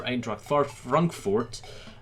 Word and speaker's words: Eintracht Frankfurt: He plays for Eintracht Frankfurt.